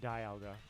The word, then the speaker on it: Dialga: I think even Ash has said Dialga and Dialga, so they've acknowledged like both are possible pronunciations of it.